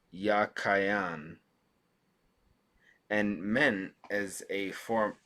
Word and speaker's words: Jachin: of the two names the word jachin in hebrew is well i'm not gonna i'm just going to read over this it is probably pronounced ya kyan and men as a